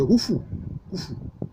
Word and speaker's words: Houfou: la pyramide de Gizeh, construite par le pharaon Khéops, mais ça c'est une prononciation grecque, sinon c'est Houfou.